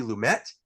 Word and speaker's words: Lumet: talking about dog day afternoon directed by Sydney lumet want to make sure we got that right this time instead of mispronouncing like we did with our death trap